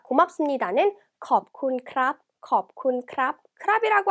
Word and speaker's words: ขอบคุณ: 자, 고맙습니다는 컵쿤 크랍, 컵쿤 크랍, 크랍이라고 한 걸 봐서 남자네요.